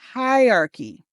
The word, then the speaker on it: hierarchy: It's just three syllables when you say it. Even though it's written as four syllables, we don't want hierarchy. Instead, let's say it has three syllables.